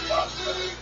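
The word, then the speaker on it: Tahd: But in the process, the guy that you thought was the evil vampire Todd, spelled T-A-H-D, yeah. But they give a little sound or a little pronunciation thing, and they say Todd.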